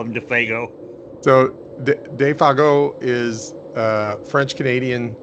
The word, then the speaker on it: Defago: I was like, how do you pronounce this? And I showed it to her. She's like, that's Defago. I was like, okay. That's nice. We always just said Defago. Defago is how Hank says it.